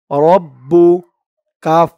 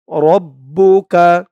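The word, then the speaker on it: رَبُّكَ: বা পেশ বু রব্বু রব্বু কাফ জবর কা রব্বুকা অনেকে বলে রাব্বুকা রাব্বুকা বলা যাবে না বলতে হবে রব্বুকা রব্বুকা বা জের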